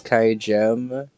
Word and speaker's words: kaigem: If I remember correctly, it is kaigem, as in gem, for the... I've always said it like kaigem, I think which is the opposite of how I pronounce GIF.